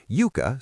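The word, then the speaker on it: yuca: Also, don't confuse yucka with yuka. Yuka, spelled with one C, is cassava, a starchy root vegetable used in cooking.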